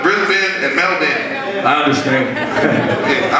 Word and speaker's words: Brisbane: Melvin, like Melvin, but it's spelled Melbourne and Brisbane, but it's Brisbane and Melvin.